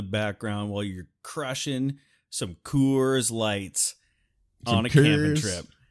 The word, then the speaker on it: Coors: Coors Light. It's pronounced Kurs.